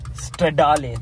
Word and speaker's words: Stradale: Stradale. That's how we should pronounce it.